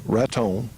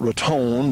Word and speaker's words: Raton: few miles south of Raton. Not Raton, but Raton, New Mexico. That's how the locals say it, so I'll trust them.